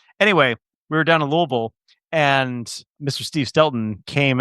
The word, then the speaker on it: Louisville: event right down in Louisville, Kentucky. I keep saying Louisville because I had a friend who grew up in Kentucky and she bashed me over the head every time. Appropriate pronunciation is Louisville.